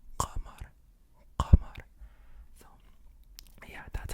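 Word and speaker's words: قمر: Okay, so it's not qamar. It's qamar.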